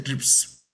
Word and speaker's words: TRIPS: See here, the S is added here, R is not added here because we can pronounce as a TRIPS.